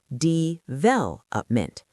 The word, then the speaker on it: development: Development, stress on the second.